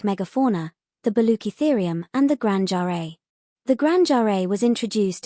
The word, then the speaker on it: Grangeri: Note that we will use the suggested pronunciation contained in X1, which differs from the real world's Granger eye.